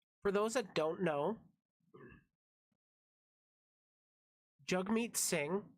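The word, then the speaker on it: Jagmeet Singh: those that don't know jug meet sing yes it's pronounced jug is one of the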